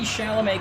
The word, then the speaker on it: Chalamet: this is so exciting timothy chalamet kind of rhymes with mcconaughey that's that's right he's